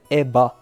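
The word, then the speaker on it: 絵羽: her name is red EBA so because again there's no proper V sound in Japanese so usually when a v sound happens they use a b sound instead so that name would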